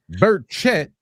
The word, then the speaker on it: Burchett: Tim Burchett is our neighbor. His name is pronounced Burchett.